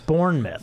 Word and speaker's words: Bournemouth: Bournemouth.